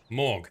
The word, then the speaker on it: Morg: Morg, that's how you say it.